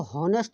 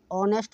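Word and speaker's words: honest: इसको हॉनेस्ट नहीं बोलेंगे, इसको हॉनेस्ट नहीं बोलेंगे बाबू, ठीक है बेटा। इसको हॉनेस्ट नहीं बोलेंगे, इसको ऑनेस्ट बोलते हैं, इसमें एच साइलेंट रहता है, ऑनेस्ट।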